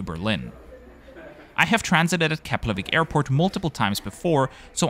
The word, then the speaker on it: Keflavík: And yes, the F in Keflavík is pronounced like a P.